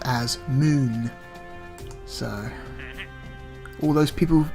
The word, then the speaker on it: Mun: flag on the moon it's spelled Mun but it's actually pronounced moon because even though it's